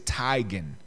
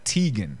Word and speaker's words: Teigen: a long time ago last name is tigon not Teigen right so and that